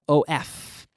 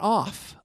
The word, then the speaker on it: of: That O-F. Well, the word of, the F, when it's single F, it's of, not off. Of. And that F is pronounced like a V, which means it's vocalized.